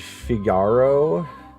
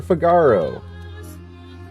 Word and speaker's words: Figaro: There's no normal way for Figaro. Figaro. You have to say it when you roll your R's.